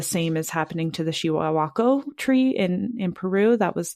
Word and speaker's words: Chihuahua: The same is happening to the Chihuahua tree in Peru. That was the tree that I saw there. I'm glad you said it because I didn't know how to say it. Yeah, Chihuahua.